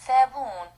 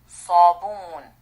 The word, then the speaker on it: صابون: Another very tough letter to make because most people want to pronounce it as S because there's no sa in English. It's not sa. It's not sa. Sa. صاعد. صاعد. يصعد. صاعد. يصعد. صابون. Not ثابون. صابون.